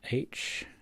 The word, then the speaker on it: half: This one is an H-A-L-F. Half. Half. Don't really pronounce the L in that one.